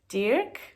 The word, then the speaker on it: Dirk: I went to a supermarket called Dirk, and in Dutch it's pronounced Dirk.